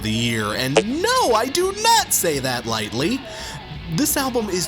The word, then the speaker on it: Donots: Donots, and yeah, it is pronounced Donots, I double-checked, are a German punk